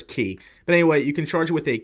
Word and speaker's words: Qi: So I think it's Key or Kai. I'm pretty sure it's Key.